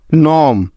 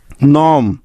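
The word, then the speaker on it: gnome: আই জি N foreign নম জি এন ও এম ই নম align A এল আই জি N align প্রতিটি উদাহরণে এন এর আগে জি আছে তাই এখানে জি টা সাইলেন্ট আছে নেক্সট কে সাইলেন্ট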